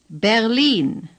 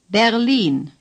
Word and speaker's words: Berlin: Now, Berlin. In East Germany, say, Berlin. The stress is on the long I. Lean. Say, Lean. Berlin. The R is hardly pronounced at all.